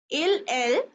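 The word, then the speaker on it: elles: was Joe sweet DOA lla new song and LL even though they have an extra s here in plural form it is pronounced the same LL so this is a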